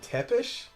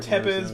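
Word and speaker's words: Țepeș: I've heard James Rolfe pronounce it Tepish. Yeah, and I'm gonna assume that's correct. Yeah, I've actually never heard it. I've heard Tepiz, but it might be Tepish.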